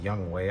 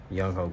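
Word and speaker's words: Younghoe: And then I know his name's pronounced Young Way, I believe. Koo. But I mean, it's spelled Young Ho, so that's what I'm always gonna call him. Young Ho Koo. But I do believe it's pronounced Young Way.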